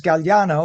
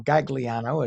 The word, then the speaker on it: Gagliano: New Jersey's own Michael Gagliano, or Gagliano, as we would pronounce it in American English of Italian words and names, has reached the final